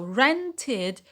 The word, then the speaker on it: rented: So here the ed, because it is pronounced id, it adds a syllable to the word. So rented is 2 syllable.